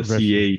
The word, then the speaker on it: Breschi: It's the Breschi, CH that is pronounced K, I guess, just in Italy or something like that.